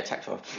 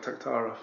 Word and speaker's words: Taktarov: Yeah, Taktarov. Named after UFC 6 champion Oleg Taktarov, the Russian bear.